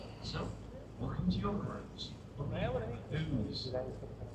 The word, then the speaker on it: Ouse: Ooze. That's pronounced ooze because it comes from the old Celtic word "uzza," meaning water. There are 5 River Ouzes